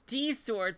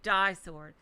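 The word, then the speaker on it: Di-Sword: No, it's D sword, but the way it's spelled, it sounds like die sword.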